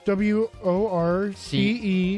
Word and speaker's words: Worcester: Is it CH or is it CE? No, it's WORCESTER. Yeah. It's Worcester or it's like Worcester.